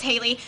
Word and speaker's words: Hallie: It's spelled like Hallie, but it's Haley.